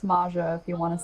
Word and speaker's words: Mxja: than welcome anyway welcome maya hello and it's pronounced maja if you want to say it that way